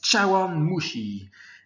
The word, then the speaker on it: 茶碗蒸し: ça pourrait nous faire ça se prononce châu mushi alors chars effectivement tchalla